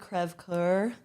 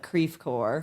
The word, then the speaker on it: Creve Coeur: And it's spelled like the French word, crève coeur. I don't know if I pronounced that correctly, but it's like broken heart, I believe. But of course, it's been Americanized, so we call it Creve Coeur.